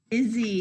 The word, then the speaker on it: Izzy: Izzy. His name is Izzy. Izzy starts with a short I, and it's the beginning of his name, so we're going to use the uppercase I.